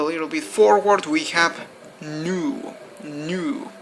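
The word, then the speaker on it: nous: we move a little bit forward we have new new spelled n-o-u-s new new basically means wait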